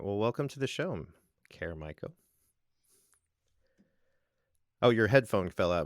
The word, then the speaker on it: Caer Maiko: that you are uh your name is pronounced caremico because i'm looking at all